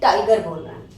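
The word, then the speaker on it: tiger: टाइगर, जी के बाद ई आ रहा है, जा बोलना चाहिए था, फिर भी हम गा बोल रहे हैं, टाइगर बोल रहे हैं।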